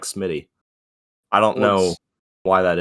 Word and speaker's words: SMII7Y: it's not spelled like Smitty. I don't know why that is. Well, the interesting thing is it's 2 I's, right? Yeah. No T, but a 7, and it's Smitty.